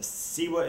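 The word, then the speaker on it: CIWA: of withdrawal with a siwa score a siwa is a standardized scale that helps determine the level of your withdrawal it's spelled c i wa and if your score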